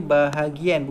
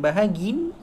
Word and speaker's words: bahagian: Itu cara baca dia, bahagian, bukan bahagin.